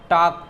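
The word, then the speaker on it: talk: वॉक, Fock, इसे क्या पढ़ेंगे, फॉक, टॉक, वॉक, ठीक है। तो एल आपका क्या हो जाएगा, यहाँ पे साइलेंट हो जाएगा।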